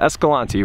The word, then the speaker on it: Escalante: Is it Escalante or Escalante? Escalante. If you think she's right, let me know in the comments. So we're going with Escalante.